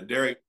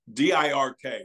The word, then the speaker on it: Derek: height of popularity uh Derek uh it's it's dir K we would say Dirk right he actually in Flemish pronounced it Derek Derek Derek Derek and Derek Derek